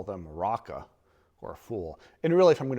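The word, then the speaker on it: Raca: sister and call them Raka, or a fool. And really, if I'm going to pronounce it more accurately, there's a guttural at the end of it. Raka.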